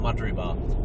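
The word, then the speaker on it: Mudgeraba: Also, place names in Australia do not sound like this spelled like this one is this one is called Madre and it is spelled M U D G E R A B A MBA.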